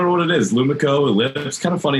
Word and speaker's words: Elips: So the new product we're going to talk about today, and help me on the pronunciation in case I mess this up. It's called Elips.